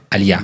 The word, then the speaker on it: aliá: Y ahorita con lo que usted me preguntaba de la aliá, así es que se pronuncia aliá, perdón, aliá.